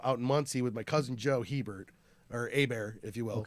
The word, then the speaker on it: Hebert: So it's spelled Hebert, H at the beginning and the T at the end are silent. So Eber, Hebert, oui, oui.